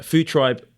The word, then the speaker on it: Food Tryb: records and it's where it's called food tribe how food tribe tribe spelled with a Y because why not um and no e and no e yeah food tribe just food tribe t r YB there we go um